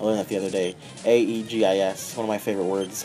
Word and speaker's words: Aegis: I never knew how to pronounce it. I always pronounce it Aegis. And I heard someone pronounce it Aegis. And so I was like, I wonder how you pronounce it. I looked it up, and it's pronounced Aegis.